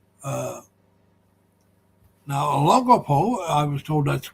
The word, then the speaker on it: Olongapo: But, I've been told it's Baybay, so I pronounce it correctly. Uh Now, Olongapo, I was told that's the correct way to pronounce it. That's the way it's spelled. Olongapo is right outside of Subic Bay.